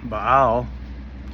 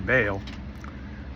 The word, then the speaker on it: Baal: And you got the god Baal or Baal, however you pronounce it. You can pronounce it either way.